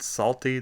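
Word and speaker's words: Psalty: collections and it included salty the singing song book salt spelled like a salter or the psalms in the bible p-s-a-l-t-y and this was kids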